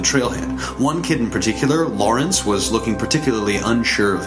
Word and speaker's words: Lawrence: I once heard him describe the pronunciation of his name as Lawrence, like rinse your dishes.